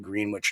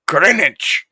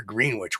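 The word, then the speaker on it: Greenwich: New York and uh talked to an English friend of mine saying why the hell don't you call it greenich now that's Connecticut we're green witch we're New York we gotta be different we have a spelled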